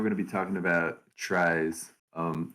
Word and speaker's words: trie: to be talking about tries um some people might call them trees like technically that's a great pronunciation for them but i'm going to call them tries today because it's just